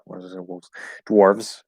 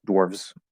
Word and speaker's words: dwarves: audio recording they have they do pronounce it with a v sound um so yeah i don't think people say dwarfs like maybe i don't think there's like it's a mythical race whether it whether it has a v sound or an f sound i don't think particularly matters um but because we spell it with the v um dwarves dwarves we'll probably keep the v sound um uh either way